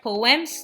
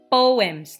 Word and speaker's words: poem: this these are short poems no we read the word poems not poems okay it's a two-syllable word so repeat after me